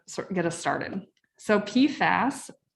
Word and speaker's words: PFAS: get us started so pfas sometimes pronounced pifas or pfasses this stands for per